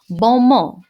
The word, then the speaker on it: bon mot: And the French have this annoying habit of not pronouncing ending consonants in words. So it is bon mot, which is a compliment or clever comment.